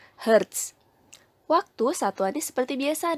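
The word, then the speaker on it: hertz: itu ya frekuensi itu satunya adalah Heart disingkat jadi Hz tapi dibacanya Heart waktu satu ada seperti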